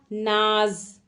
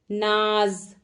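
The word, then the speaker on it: नाज़: लेकिन जैसे ही नाज के नीचे आपने बिंदु लगा दिया यानी कि नुक्ता लगा दिया तो कैसा उच्चारण हो जाएगा, नाज, नाज।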